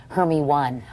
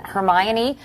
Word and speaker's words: Hermione: school all the girls thought your name was her me one I know different interpretations like hum yoni honey